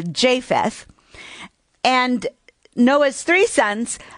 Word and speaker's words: Japheth: and i am correcting i had mispronounced japheth it is with the long a japheth and noah's three sons